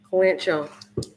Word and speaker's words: kalanchoe: it up but um it's called the kala show i don't know if i'm just pronouncing it right but kalanchoe kalancho let's find out k-a-l-a-c-h-o-e okay clancho it is like rose like flower